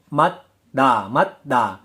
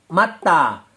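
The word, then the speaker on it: 맞다: Matda karena jiat bertemu dengan digat, bacim jiat bertemu dengan digat. Bacim digat berubah menjadi sang digat. Betul. Penulisannya matda, tapi pelafalannya matta.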